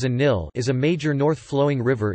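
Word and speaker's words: النيل: The Nile, Arabic, Al-Nile, written as Al-Nil, pronounced as a Nil, is a major north-flowing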